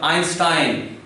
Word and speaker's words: Einstein: So Stein, So altogether Einstein, because some people they pronounce it Einstein, so that's not the correct one.